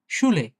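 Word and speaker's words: Schule: এস, সে, হা, উ বা ইউ, এল, এ। শুলে, শুলে, হ্যাঁ। তার মানে এই যে এই ৩ টা একসাথে থাকলে তালব্য স এর মতো উচ্চারণ হয়।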